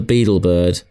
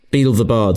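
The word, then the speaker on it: Beedle the Bard: Tales of the Beetlebird. Beetle the Bard.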